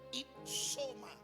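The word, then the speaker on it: ὕψωμα: La palabra que se pronuncia i soma. Ipsoma habla de algo elevado,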